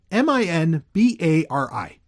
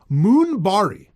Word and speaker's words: Minbari: And Minbari, which is what she is, she's Minbari, and that's spelled Minbari. Minbari. Do you want to know how she pronounces it? Moonbari. Moonbari. There's no U in the fucking spelling of it even.